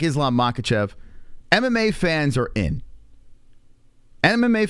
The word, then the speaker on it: Makhachev: you say his name I say makachev but I think it's mahatchev I think that's the proper way of saying it the year of 2023